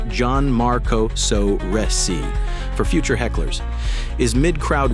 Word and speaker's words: Gianmarco Soresi: New York storyteller Gianmarco Soresi, pronounced Gianmarco Soresi for future hecklers, is mid-crowd work when a chatty patron named Jeanette decides she's co-headliner.